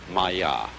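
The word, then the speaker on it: माया: I'm going to write that down for you pronounced Maya and this word comes from a root in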